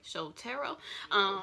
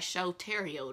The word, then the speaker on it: Shotaro: Shotaro. It looked like Shotario to me, but I'm sure that's not how you say it.